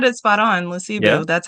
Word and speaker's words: Lesibu: Lesibu.